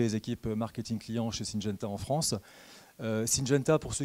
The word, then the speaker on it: Syngenta: Syngenta, est-ce que je l'ai bien prononcé, Laurent? Tout à fait, Syngenta et non pas Syngenta.